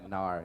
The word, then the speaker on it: Gnar: And is spelled Gnar. Yeah, Nar, yep. Nar, like gnarly.